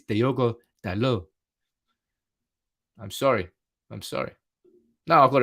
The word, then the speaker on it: Dalot: Dalot is pronounced Dalot. The T is silent. I'm sorry, it's Diogo Dalot.